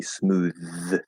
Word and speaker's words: smooth: normal th there and then smooth is actually a voiced th this is the only one in this group that is actually a voiced th so it's going to be smooth to the um and